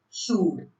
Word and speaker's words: should: L is silent before words, especially before D or F. Examples: could, should, calf, have.